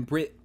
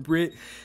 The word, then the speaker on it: Bret: forget his name in the film and then Brit who it's funny it's name is Brett but it's pronounced Brit I'm just gonna call him Brit the entire podcast but with him as well